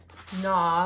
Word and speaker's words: gnaw: this week are na notice there's a silent G there na like the mouse is gnawing on the cheese draw saw straw and